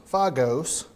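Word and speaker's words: φάγος: There's a Greek word pronounced fogos, fagos.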